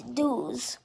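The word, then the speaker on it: douze: is not ones it's owns and 12 is dues so 11 is spelled o n z zed e and 12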